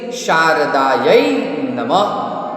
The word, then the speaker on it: शारदायै नमः: शारदायै, यै 2 मात्रा है इसलिए यहाँ पे प्रोनाउंसिएशन क्या होता है? यै, य के माथे 2 मात्रा है। शारदायै नमः, डबल डॉट, विसर्ग। इफ द विसर्ग is there on that time pronunciation is ह।